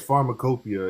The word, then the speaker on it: Pharmacopoeia: Tell me if I'm not pronouncing this right. Pharmacopoeia, is that correct? Yeah, U.S. Pharmacopoeia.